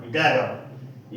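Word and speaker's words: dagger: Double जी का उच्चारण ग होता है। देखिए डी A double ji ई आर डैगर यहां पर डबल जी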